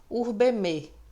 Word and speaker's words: urbem: Observem que eu pronunciei o fonema M, final. Em latim, toda palavra terminada em M tem o seu fonema intensificado. Portanto, ao invés de urbem, urbeme.